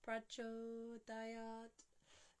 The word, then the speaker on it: prachodayat: So, nah, prachodayat, ending with a dental T.